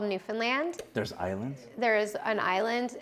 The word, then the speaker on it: Newfoundland: that and it's called Newfoundland and it's pronounced like Disneyland okay and I grew